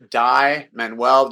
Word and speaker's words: Dai Manuel: medium and it's just my name die menwell just remember it's spelled d a i and then menwell m